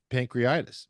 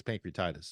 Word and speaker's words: pancreatitis: uh because he had pancreitis pancreitis or pancreatitis I think it's pancreatitis is the way it's pronounced and he was about